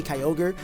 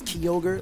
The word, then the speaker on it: Kyogre: of many Pokemon like I say Kyogre but apparently it's kogre like little stuff like